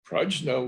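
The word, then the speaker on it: prajñā: these characters well we know that in india prajna was the sanskrit classical sanskrit pronunciation but there were many what we're called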